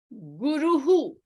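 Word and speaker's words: गुरुः: Harihi, Ratrihi, Guruhu. The vowel before the Visarga is U. So the pronunciation of the Visarga will be the hu sound in the end.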